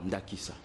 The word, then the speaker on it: Nakissa: il s'agit de quoi Nakissa ok Nakissa comme le mot indique c'est un mot lingala ah Nakissa oui ah